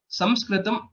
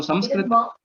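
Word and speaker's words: संस्कृतम्: a very wrong pronunciation, Samskritam is the usual way in which how we pronounce it. So Sanskrit, usually it is said as ma, but sometimes it is also said with nakara, that is Sanskrit.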